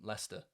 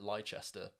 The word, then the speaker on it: Leicester: yeah Nottingham I'm from Leicester and Americans always pronounce it lychester I think I already